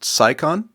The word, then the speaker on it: Cycon: So, your last name is pronounced Saikon. Saon. You got it.